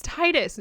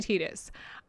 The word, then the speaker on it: Tidus: passing about tas's name not being tetus it's Titus well I think it was meant to be